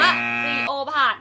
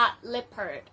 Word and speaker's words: leopard: หรือ เปล่า นะ คะ ไม่ ได้ ออก เสียง ว่า นีโอ บาท นะ จ๊ะ เสือ ดาว เนี่ย ออก เสียง ว่า เลพเพิร์ด เล็บ เพิ่อ สำหรับ วัน นี้ นะ